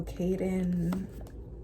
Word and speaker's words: Kaden: to get better also Kaden I can't because his his name rhymes with Zayden from fourth Lane so